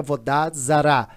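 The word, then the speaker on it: עבודה זרה: Noé não cometei idolatria em hebraico idolatria se pronuncia em Hebraica vodados Zara segundo não blasfemar Deus o terceiro não assassinar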